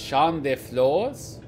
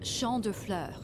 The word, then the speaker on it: Champ de Fleurs: I think it's Champ de Flores. It's Champ de Fleurs. Ooh! Champ de Fleurs. It means field of flowers.